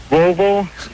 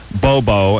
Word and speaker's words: Volvo: back to me please Volvo Sab okay work close enough got it yeah unlike my barber who says uh Bobo and Sab sa yeah Bobo and Sav those are the way he pronounces it like listen you jackass